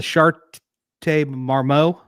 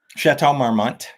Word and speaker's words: Chateau Marmont: And the Chateau, I just want to mention the correct my pronunciation, but it's the Chateau Marmont. Chateau Marmont.